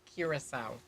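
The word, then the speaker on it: Curaçao: would like to know how to pronounce carousel curacao it's pronounced curacao ah ps love curacao it is like it's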